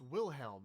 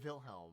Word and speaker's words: Wilhelm: willhelm well you'll see it's willhelm not vilhelm why would you say it like that okay I guess what